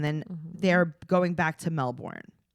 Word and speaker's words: Melbourne: to it's like he she's like Melbourne and and he's like actually we call it melbour and she's like oh so you don't pronounce the r and he goes say